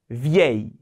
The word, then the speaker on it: vieille: vieux, vieille. 발음 이거 제일 어려울 수도 있어요.